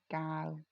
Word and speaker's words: Cao: the cover's by Anne Gao. She's Anne Yep. Gao. So it's CAO, but it's pronounced Gao, which I just found out.